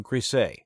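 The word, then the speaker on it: Griesa: So a good list of words to run by the author is a great idea first.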